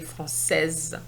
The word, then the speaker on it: française: Un acteur français, the S is silent, but we're going to say française. You have to remember that an S between 2 vowels gives you the Z sound.